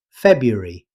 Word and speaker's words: February: Many learners pronounce every letter, but in everyday speech, most native speakers say February, dropping the first R.